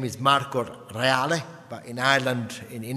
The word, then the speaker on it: Reale: thee amen I my name is Mark or reali but in Ireland in in England they pronounce it how they may be Spanish